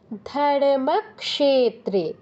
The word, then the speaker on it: ধর্মক্ষেত্রে: বাদও দেয়া যাবে না খিয় ভাঙলে ক হসন্ত স পাচ্ছি এটাই উচ্চারণ করতে হবে কি হবে উচ্চারণটা ধর্মক্ষেত্রে ধর্মক্ষেত্রে কুরুক্ষেত্রে সময়ে এই